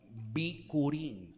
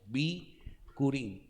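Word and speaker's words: בכורים: Es la palabra hebrea bikurim, así se pronuncia. Bikurim.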